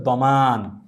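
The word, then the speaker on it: ضمان: তারপরও এটির আরবি কি গ্যারান্টি শব্দটির আরবি হচ্ছে দমান দমান শব্দের অর্থ হচ্ছে গ্যারান্টি তাহলে আমরা কোন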